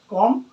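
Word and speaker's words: comb: आ जाए, ठीक है, एम के साथ आता है तो बी का होता है साइलेंट हो जाता है। जैसे में कॉम, टूम, वूम, थम और लिम।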